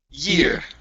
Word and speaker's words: year: to last word so instead of saying J okay give me a uh an English y instead of J it's e year year okay good let's go